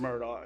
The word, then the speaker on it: Murdaugh: there for Mr Murdoch I think he calls himself murder I heard it today but I'm not sure how they how how they pronounce it down there in the low state I'm from Myrtle Beach I pronounce it like